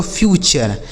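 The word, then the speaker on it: future: यानी यहां पर भी यू का उच्चारण अ हो जाएगा। नेचर एफ यू टी यू आर ई इसे पढ़ेंगे दोस्तों फ्यूचर।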